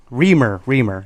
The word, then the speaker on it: Remer: I think that's how you say his name. Remer, yes.